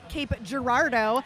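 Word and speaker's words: Cape Girardeau: for Chicago and actually I am allowed to say cape girardo because one of the skaters came up to me and told me that I am actually saying it correctly and then Melody called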